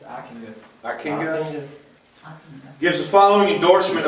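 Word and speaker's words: Ockenga: Okenga. Okenga? I think. It's Akinga.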